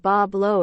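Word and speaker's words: Bois Blanc: Boise Blanc being pronounced Bob Lowe is one.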